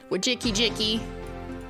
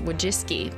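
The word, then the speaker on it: Wojcicki: Wajiki Jiki. Actually pronounces Wajiski, but you know, it's for the memes.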